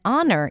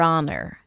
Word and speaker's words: honor: Your And then honor, even though it's spelled with an H, we pronounce it without an H. Your honor.